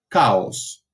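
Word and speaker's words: chaos: caos y recuerden que la ch en realidad está transitando una letra griega es la he sí pero la tomó como unidad y que la pronunciación es el primer sonido que vimos hoy el sonido de la cca de la exclusiva velar sorda si entonces luego caos se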